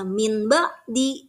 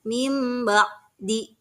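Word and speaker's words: من بعد: Nah, contoh, mim ba'di. Di sana ada nun sukun, min. Itu nun sukun, kedepannya ada huruf ba. Bacanya tidak membaca min ba'di, tapi membacanya mim ba'di.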